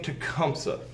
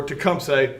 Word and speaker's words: Tecumseh: bit at the time this is an uh indian name tecumsa all right or tecumseh depending on your pronunciation of it to come say what